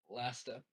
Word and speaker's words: Lasta: in lasta l l l l it's like pasta with an L uh they it's spelled